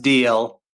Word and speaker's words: Dalzell: It's apparently pronounced DL. It's like a Scottish or a Gaelic name, but I like to use all the letters.